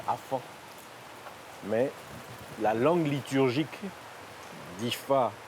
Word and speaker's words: Afa: On écrit A-F-A, mais on prononce Afan.